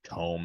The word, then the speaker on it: Tome: Tome, sorry. Thank you. Tome. I know it's spelled Tome. I just Tome.